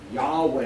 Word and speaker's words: Yahweh: yo hey Bob hey in Hebrew Yahweh is how it's usually pronounced in english this is God's first